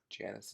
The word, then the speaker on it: Janus: on RD I guess I should stick to one pronunciation of gayness versus Janus yeah and as it's probably more correct natively I think Janice it's just the common way to pronounce it American English so maybe I'll just stick with try to be more natively correct go with Janice so he did find